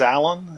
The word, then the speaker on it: ALAN: say what's this who's alan and but in principle it should be pronounced a-l-a-n but uh but anyway